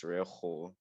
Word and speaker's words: Rejo: name first okay so i pronounce my name as rejo just like you said it and i did